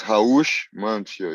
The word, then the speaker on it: Raush Manfio: It's Raush Manfio, yes. The Perfect. R in Portuguese sounds like I age here, but the rest is all equal.